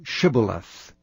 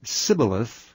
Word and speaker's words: Shibboleth: If he said, Nay, then said they unto him, Say now Shibboleth. And he said Sibboleth, for he could not frame to pronounce it right.